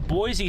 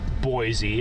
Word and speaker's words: Boise: I believe it's pronounced Boise, I would assume, because you have Boise, Idaho. So, I'm I'm assuming it's the same pronunciation.